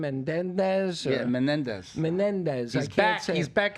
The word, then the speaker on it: Menendez: Yeah, Menendez.